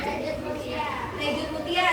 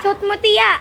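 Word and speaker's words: Cut Meutia: Tejud Mutia. No, salah. Cut Mutia.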